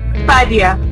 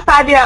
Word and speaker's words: Fadia: Fadia.